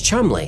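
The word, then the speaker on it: Cholmondeley: Officers working on Crafting this deception was Charles Chumley hang on what shall we danced it says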